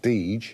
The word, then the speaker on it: Deger: Deger's, or now it's pronounced Deege, their two sons got on very well, so they actually started up on their own.